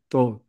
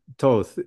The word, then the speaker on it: Thoth: You know, to be honest, he guides me through pronouncing it Thoth, but Thoth is the most common and he never seems to take offense.